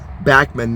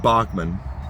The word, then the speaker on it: Bachman: guess who and yeah he pronounces his name backman not bachmann and it came up